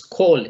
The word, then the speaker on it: call: Entonces, no digan call ni nada de eso, sino la pronunciación perfecta es call. Esa A suena como una O y decimos call o dial.